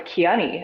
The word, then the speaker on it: Kiani: I think you did a really good job with Kiani. A lot of people mispronounce that too.